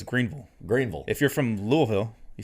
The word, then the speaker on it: Louisville: you know that you they don't say lewisville no louisville it's all you almost don't even have the e sound it's just louisville louisville louisville it's almost yeah two